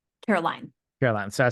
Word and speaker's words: Caroline: Is it Caroline or Carolyn? Caroline.